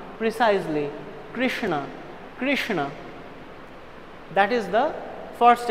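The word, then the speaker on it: Kṛṣṇa: if anybody randomly sees this word they can pronounce it as Krishna Krishna Krishna there can be many variations but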